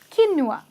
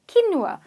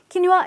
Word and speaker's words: quinoa: so maybe he Noah but actually it's not pronounced like that it's not as tin nua okay so interesting key Noah it's quinoa quinoa is the correct pronunciation and quinoa is a